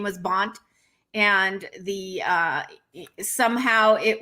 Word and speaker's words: Band: family's surname was b-a-n-d which in germany is pronounced bond right bunt so probably that got mish-moshed when her ancestors came over and said their name was bont and the uh somehow it was transcribed as